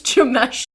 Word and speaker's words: Jameshelle: My name is Jameshelle. The J is silent.